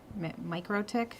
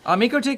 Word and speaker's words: MikroTik: How do you pronounce it? MikroTik?